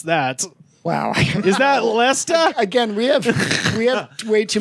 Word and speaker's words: Leicester: So I'm going to need John, to your point earlier, how the fuck do you pronounce that? Wow. Is that Leicester?